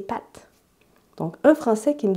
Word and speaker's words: pâtes: C'est le A accent circonflexe, qui est donc une voyelle plus longue, ou qui était une voyelle plus longue. Les Français perdent cette opposition. Donc, les Français, bon là, je m'éloigne un petit peu, mais les Français, pour dire des pâtes, comme des spaghettis, ils vont dire des pâtes.